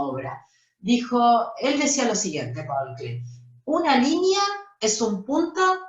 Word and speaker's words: Paul Klee: Pronuncia bien, no se dice Paul Klee, ¿eh? Paul Klee.